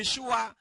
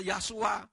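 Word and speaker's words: ישוע: Tapi kalau Yod digabung dengan sin waw ayin, membacanya jadi Yeshua, tidak pernah membaca Yasua.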